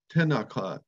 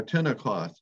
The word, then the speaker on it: Tenalquot: get the meaning of the word tennakat or tenocot as the old indians pronounce it i had depended on